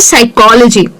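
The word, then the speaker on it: psychology: तो उनमें पी जो है वो साइलेंट है और हम सिर्फ और सिर्फ एस का साउंड यूज़ करते हैं। तो वो हो जाता है साइकोलॉजी।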